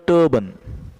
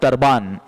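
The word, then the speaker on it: turban: सो ही wound, उसने लपेटा था, अ सैफ्रॉन कलर टर्बन, इसका प्रोनाउंसिएशन भी ध्यान में रखना, टर्बन, इट नॉट टर्बान, इट इज टर्बन।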